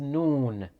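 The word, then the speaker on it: نون: nose next is noon noon is like you're saying afternoon huh noon it is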